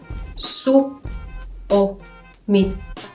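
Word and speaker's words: Suomi: พร้อม กัน นะ คะ ซุ โอ มิ ลอง อ่าน ว่า ซุ โอมิ จะ อ่าน ง่าย มาก เลย นะ คะ ซิ เขา จะ เน้น ที่ พยางค์ แรก นะ คะ พูด ตาม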